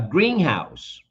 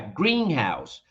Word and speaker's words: greenhouse: in compound nouns distress usually falls on the first syllable take a look at this for example a greenhouse see my accent over there a greenhouse the distress in this